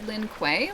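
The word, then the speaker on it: Lin Kuei: Pronounced Lin Quay like that.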